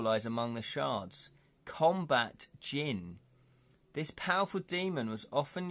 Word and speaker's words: djinn: It's just got a silent D.